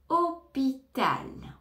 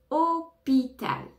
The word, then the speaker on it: hôpital: la fin fruit fruit hôpital ne prononce pas le h au départ hôpital hôpital hôpital attention il